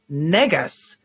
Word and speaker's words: Negus: for an African King would you pronounce it like you would with the negative connotation because Negus okay is how you actually pronounce that word okay not in I